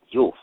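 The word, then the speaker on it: Guelph: You had the House of Wells, or what they refer to as the House Yulf, which is spelled Geulphs, right?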